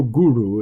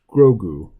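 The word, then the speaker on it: Grogu: actual name oh right it's grow it's not grow Guru it's grou or something like that you just get an extra syllable on the end there less otherwise you're right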